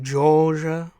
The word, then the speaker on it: Georgia: Fred Armisen joke is they pronounce it Georgia. Georgia, you lose the R. They sort of ditch the R in Georgia.